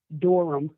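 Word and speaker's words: Durham: for me l-y d-i-a last name doram like the dorm report you know like john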